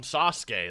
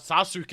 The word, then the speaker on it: Sasuke: his editor's like, hey dude, it's the first syllable on Sasuke. That's why it's not Sasuke, it's Sasuke, okay?